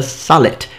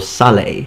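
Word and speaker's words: sallet: number two we've got the salat or Saleh however you want to pronounce it now this is a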